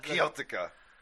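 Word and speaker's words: Kiełtyka: Keltyka. Oh, that's exactly how you pronounce it. Kieltika.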